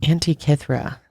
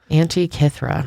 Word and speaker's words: Antikythera: but this is pretty cool the Antikythera mechanism Antikythera I would have never been out be able to pronounce oh I had to look it up Angie Catherine yep the Antikythera the first computer wild but